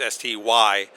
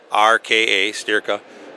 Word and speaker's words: Styrka: And again, Styrka is spelled with a Y, folks. It's Styrka, Styrka.